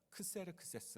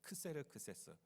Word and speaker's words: 크세르크세스: 적은 그 왕의 이름이고 원어는 어떻게 발음 할까요 여러분 영어로 옆에 이렇게 나와 있죠 이름이 뭐예요 예 영어로는 발음 하게 좀 이상하죠 영화를 보니까 젤크 스에서 이렇게 부르는데 한국의 역사서에 는 크세르크세스 s 이렇게 나오고 있습니다 크세르크세스 페르시아의 왕 으로서